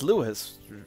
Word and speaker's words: Lewis: No, wait, the way that's spelled, that's spelled like Lewis, right? Like, that's not Lois, that's Lewis, right?